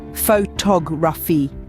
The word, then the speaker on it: photography: The stress falls on the second syllable, photography, not photography or photography.